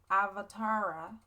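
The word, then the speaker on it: अवतार: is let me explain an avatar in sanskrit pronounced avatara is a concept in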